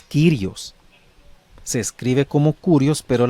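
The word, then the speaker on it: Κύριος: Ahí puede ver usted la forma en que se escribe, pero su pronunciación es Kyrios.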